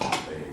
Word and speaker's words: Lebesgue: of France, and that it's pronounced Lebesgue, which I was glad to hear because I've been saying that for 40 years.